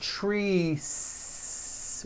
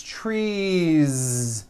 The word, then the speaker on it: trees: It's not trees with an unvoiced s. It's trees with that voiced ending.